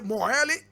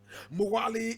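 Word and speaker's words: Mwali: moheli in the comoros now moheli is spelled m-o-h-e-l-i correct pronunciation spelled m-w-a-l-i so English people will say more early but the indigenous people of the comoros would say Moana is an autonomous Island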